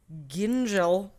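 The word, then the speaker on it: Gyngell: 2011 the founder and chef Skye Ginjo Wow alright that's how you pronounce it she received complaints from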